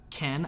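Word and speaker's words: חן: the word charis and in hebrew it is uh ken i i'm i'm not pronouncing right it's k-h-e-n not like barbie and ken k-a-g and probably a little more guttural than i'm saying um but it can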